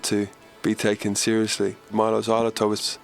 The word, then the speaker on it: Xyloto: Our new album is pronounced Mylo Xyloto, like xylophone. But you can do it any way you like, or not at all.